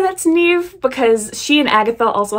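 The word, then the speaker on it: Niamh: We are looking at how to pronounce Neve. Neve, yes.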